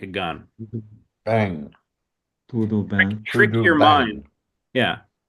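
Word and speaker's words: bem: Trick trick your brain because when you look at the words you want to go, oh to put that m in there to do bang bang to do bang.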